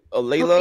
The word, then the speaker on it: LaLa: right? Am I saying it right? LaLa. Me? LaLa. Yeah, LaLa.